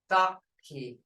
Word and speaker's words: thaki: When a is followed in a syllable by he or ki, it may be also represent a short tense vowel, as in thaki.